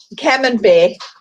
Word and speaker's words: Camembert: chambray cheese is dried out, Chris. The what? If I pronounced it right, the chambray, I never get it right, It's- though. Camembert. Camembert is dried out.